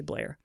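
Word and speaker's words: Bleier: I don't know if I'm pronouncing that right, but it's b l e i e r. So, I'm just going to say Bliar.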